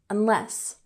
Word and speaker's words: unless: Next, we have unless, with emphasis on the second syllable, unless. And this means that something will happen unless another thing happens.